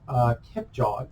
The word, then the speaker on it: Kipchoge: And then it says here, shortly after Kenya's Eliud Kipchoge, okay, that's how to pronounce it, recorded an unprecedented run, 26 miles, the marathon, in less than 2 hours.